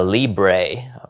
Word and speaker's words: Libre: So he's founder of Bitcoin uh Libre right.